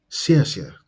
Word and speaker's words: 谢: It is made up of the initial si and the final yeah.